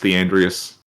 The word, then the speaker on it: Theandrias: Um, you can call me Theandrias. The Yes. How do I spell that? Uh, however you like. As long as it's pronounced the Andreas should be good.